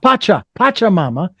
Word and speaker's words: Pachamama: Is that how that's pronounced? Pachamama. Pachamama.